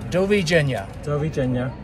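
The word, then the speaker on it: Doviđenja: screen there's a j the J is is pronounced as a y so from Croatia it's Dobby Junior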